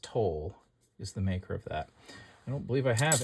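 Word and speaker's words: Towle: light by I think I think that's pronounced tol is the maker of that I don't believe I have any other candle light by Toll and let's see what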